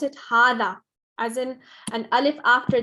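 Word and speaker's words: هذا: it we pronounce it hada as in an alif after the ha there's a you in some books there's a small alif on the ha so just remember it's pronounced hada okay but it's written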